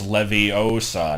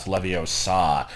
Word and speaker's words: Leviosa: get the whole like it's leviosa not leviosa like if it's just